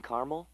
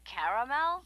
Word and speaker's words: caramel: I'd like it in caramel. Oh, the caramel?